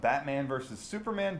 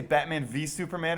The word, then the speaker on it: Batman v Superman: from a screening of Batman vs Superman dawn of Justice which should I say Batman V Superman oh yes you should and that's how they say it dawn of Justice and